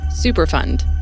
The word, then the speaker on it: Superfund: Superfund, emphasis on fund, not fun, was a program created by the federal government in 1980 to help pay for the cleanup of hazardous waste sites.